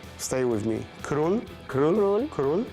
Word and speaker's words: król: So it's, stay with me, król. Król. Król. It's easy. Strzelców. Okay. Strzelców. Strzelców. Close enough. Król Strzelców.